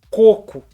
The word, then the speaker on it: coco: é o mesmo caso se você ver a palavra tá escrito sem acento a sua pronúncia é coco se você vê com acento o acento indica que aquela palavra é oxítona e aí você vai pronunciar cocô beleza ai ai que